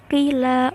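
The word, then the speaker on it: قِيلَ: Dan cara membacanya adalah bahwa engkau mengharakati qaf, baris qaf pada qila dengan harakat yang tersusun dari 2 harakat, yaitu harakat dhammah dan juga harakat kasrah.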